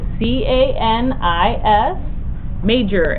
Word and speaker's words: Canis Major: the first one is called kis major canis c a n i s oh i c a n i s major m a j o r Canis Major now kis major has